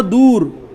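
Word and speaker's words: دور: এরপর একটা শব্দ দেখি আমরা, দূর। দূর, একদম উ, দূর, ঠিক আছে? এটাই কি বলা হয়? ওয়াওয়ে মারুফ।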